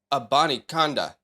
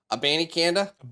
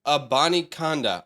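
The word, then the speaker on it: Abanikanda: Israel a Bonnie Konda if you guys want to know how to actually pronunciate the last name because I've heard someone say abandy Canada that's not it it is a Bonnie Konda or let's make it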